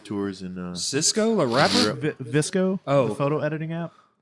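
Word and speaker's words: VSCO: Visco, Oh. the photo editing app. Oh, that's how you pronounce it.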